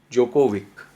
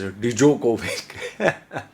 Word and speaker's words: Djokovic: about this novak joe jokovic yeah i called his name right finally before i was pronouncing as dejokovic okay novak jovik just